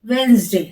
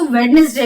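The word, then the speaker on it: Wednesday: वेंसडे, वेंसडे को बहुत से लोग उसको वेडनेसडे भी बोलते हैं, लेकिन इसका प्रोनाउंसिएशन होता है वेंसडे।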